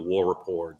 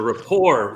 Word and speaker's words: rapport: dude in East Tennessee it's not the war report we don't spell it that way but it's the Rapport the report the great report thank you for that